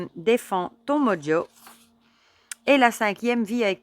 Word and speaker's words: mojo: Grâce à mon mojo, prononcé mojo à l'anglaise.